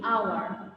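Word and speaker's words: hour: আওয়ার, দেখো অ্যান আওয়ার, এখানে এইচটা কিন্তু সাইলেন্ট আছে, আমি একটু আগে যা বললাম, এইচ যদি সাইলেন্ট থাকে তাহলে তার আগে আমরা অ্যান ব্যবহার করব।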